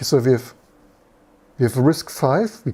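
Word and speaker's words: RISC-V: we have we have risk five we call it risk five right does does someone call it risk V so we have risk five but SP V okay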